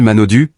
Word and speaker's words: Manaudou: Florent Manodou prononcé en français VFL Manodu, né le 12 novembre 1990, ce nom raisonne